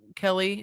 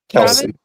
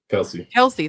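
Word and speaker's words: Kelce: Kelly. How do you say his name? Kelsey. Kelsey.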